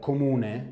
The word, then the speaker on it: comune: Yes, in Italian we call it comune.